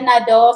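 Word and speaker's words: Nadeau: akin, Lea Nado.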